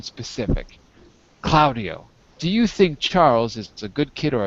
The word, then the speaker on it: Charles: wait a second Charles Charles sorry you don't pronounce the L in Charles by the way uh